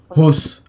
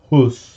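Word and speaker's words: Höss: donc c'est le c'est le commandant os rudolp hos h o E 2 S hos en hos voilà et pas évident à prononcer hein pour les noms germanophones et en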